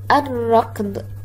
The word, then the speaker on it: الركض: الكلمة: الركض، الصغيرات، التعرف، اللوز. هل نطقت اللام بهذه الكلمات؟ هيا الفظ معي الكلمات مرة أخرى ولاحظ بنفسك: الركض، الركض. نعم لم تنطق اللام.